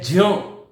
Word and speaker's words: ज्ञ: उच्चारण है वो है ज्ञ, जिसको हम ज्ञान बोलते हैं ना, उसका विशुद्ध उच्चारण यदि आप सुनोगे तो वो जान है।